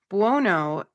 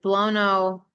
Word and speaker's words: Buono: Is that how you say his name? Buono. Uh-huh. Okay. And the one I'm looking at, it's shown, is it Buono? Well, Buono. it's Buono, Right. which is usually like bueno, buena, Bueno. Bueno.